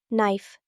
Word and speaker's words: knife: Knife. The K is silent.